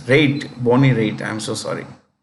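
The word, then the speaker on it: Raitt: is Bo anyway this is Bonnie b-o-n-n-i-e Bonnie riot Bonnie right singer writer Bonnie riot no no it's rate Bonnie rate I'm so sorry hey you know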